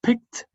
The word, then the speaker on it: picked: The verb pick, no vibration, picked.